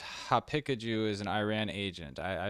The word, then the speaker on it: Haqiqatjou: It's Haqiqatjou. It's very hard to pronounce because of the qaf letter. It's like a kind of a guttural. Yeah, guttural. So Haqiqatjou. So if you pronounce it Persian, it's like Haqiqat, and Haqiqatjou.